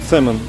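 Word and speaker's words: salmon: Или салмон. Не. А, да. Салмон. Да, сэмон. Сэмон, Л не произносится.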